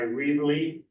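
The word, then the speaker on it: Reavly: Jon's name is Thomas s r e a v l y reely I believe this pronounced and you're going to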